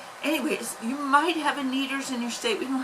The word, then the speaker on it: Kneaders: birthday we went out to a place called kneaders and neither is spelled k-n-e-a-d-e-r-s which i will put up on the screen if i have editing software anyways you might have a needers in your state we don't have them out